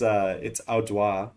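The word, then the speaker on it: Audubon: But it's Audwa is how you say that.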